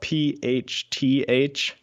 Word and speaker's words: phthalates: And by the way, phthalates, it's spelled PHTHALATES, phthalates.